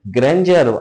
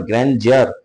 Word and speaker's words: grandeur: বাট not because of ইটস ম্যাগনিফিসেন্স, এর ম্যাগনিফিসেন্সের জন্য নয়, এর প্রকাণ্ডতা, এর গ্র্যান্ডিয়ার, আড়ম্বরতা, আড়ম্বরপূর্ণতা, গ্র্যান্ডিয়ারের জন্য নয়। গ্র্যান্ডিয়ার উচ্চারণ হবে GRANDEUR, গ্র্যান্ডিয়ার উচ্চারণ, গ্র্যান্ডিয়ার।